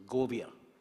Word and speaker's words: Govia: the last name is pronounced as Govia. Govia. It's a Portuguese name, and but thank you very much for being here, ladies and gentlemen.